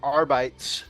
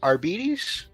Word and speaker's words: Arbites: I love the I've always said um the r bytes uh because of uh well I guess just I've just been mispronouncing it but I learned today that is the I believe it's arbites like diabetes rbds yeah the arbitus we could